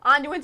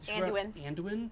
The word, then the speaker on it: Anduin: wrong like I said anduin's her favorite character how the hell do she pronounce it andwin it's anduin it's anduin I think they